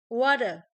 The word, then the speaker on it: water: So if for letter T, for between two vowel sound with the voice, so if we fall a middle of vowel, and the T is pronounced as a D, and the whole word is voice.